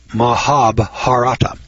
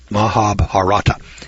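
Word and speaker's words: Mahabharata: and I can't pronounce this word but I'll spell it for Maha mahab harata mahab harata m a h a b h a r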